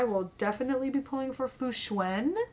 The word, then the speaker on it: Fu Xuan: definitely be pulling for Foo schwen now we know how to say her name it's not fooshwan it's fuschwan um definitely pulling for her